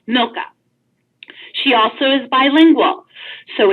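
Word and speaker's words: Milca: at navigate HCR calm and her name is pronounced milka she also is bilingual so if you have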